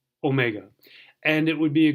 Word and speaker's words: omega: And then the omega is the mega, big, the long O.